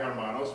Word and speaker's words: Hermanos: As Dave Murphy correctly pointed out, the H in Hermanos is silent. Orbea Hermanos, which means Orbea brothers.